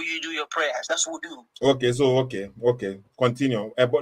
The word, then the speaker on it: wudu: No, ablution is wudu.